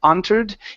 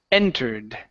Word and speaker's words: entered: So whenever you see an EN at the beginning of the word, you have to push against your French, okay, and pronounce that like English. So instead of entered, it's entered.